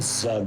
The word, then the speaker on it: Zug: So that rhymes with Zug, which we know.